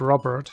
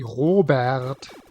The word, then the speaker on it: Robert: Because in German you wouldn't pronounce it Robert, it would be Robert.